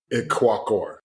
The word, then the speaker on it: Ikwuakor: Yes, my full name is I go by Well, I'm first Nigerian, but it's Iquacore, but I go by, but my last name is like and then Walker.